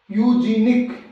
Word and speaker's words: eugenic: जैसे इस वर्ड से देखते हैं, EUGENIC, यूजीनिक।